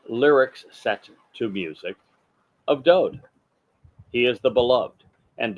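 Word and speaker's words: דוד: set to music of Do he is the Beloved and do is the correct pronunciation of his name it is not David there is no second vowel in his name just one the W and it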